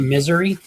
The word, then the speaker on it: Missouri: Keegan, I believe it's pronounced Missouri. Depends what part of the country you're from, I guess. Are you from any part of that country? Pretty sure in Missouri they call it Missouri. At least when I was there. They call it Misery.